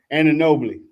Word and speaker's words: Anunoby: Oh, and Anunoby.